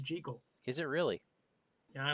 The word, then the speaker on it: Jekyll: I interrupt real quick the proper pronunciation of the name is jical is it really yeah